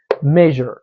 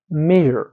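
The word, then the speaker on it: measure: وخت چې غږ لرونکی دا بیا موږ تاسو ډایرکټ ژ تلفظ کوو لکه چې سو میجر میجر.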